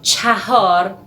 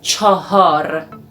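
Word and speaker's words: چهار: and one more thing we write cha-hor but we read and we pronounce chahar and also the academic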